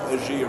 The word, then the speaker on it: Ergéa: Lots of people pronounce it, but I think it is a it's actually a madeup name, made up word from from two Greek words that have been spliced together. So yeah, so enabling enabling healthcare. So yeah, so I think AIA is the way that I pronounce it.